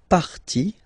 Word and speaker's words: partie: So basically you don't pronounce the E, okay? So it will be only the sound I, okay? For instance, la vie, life, okay? La partie, the part, okay?